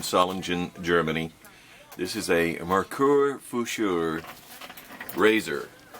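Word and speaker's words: Merkur Futur: I use a Merkur Fuscher. That's how it's pronounced. I think that is German. It's from Solingen, Germany. This is a Merkur Fuscher razor, spelled M-E-R-K-U-R F-U-T-U-R.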